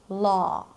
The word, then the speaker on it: law: Today we are going to discuss the spelling pattern AW, ah, as in law, ah. Now we've already established that spelling and pronunciation do not always correspond in English, and